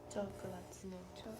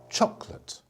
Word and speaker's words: chocolate: oh chocolate like that chocolate listen to me chocolate how many syllables how many chocolate two just two yeah you like that yeah